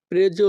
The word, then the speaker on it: preso: hai preso la medicina? এখানে SO এর উচ্চারণ হবে জো।